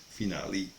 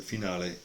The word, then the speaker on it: finale: with an aesthetically pleasing finale finale for American pronunciation but the finale it's the Italian correct pronunciation for example it can